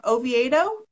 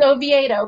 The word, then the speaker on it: Oviedo: She has a shop in, I'm going to say your city wrong, Oviedo. Oviedo. If you're in Spain, it's Oviedo, but in over here, it's just Oviedo. Because we say it wrong, I'm sure.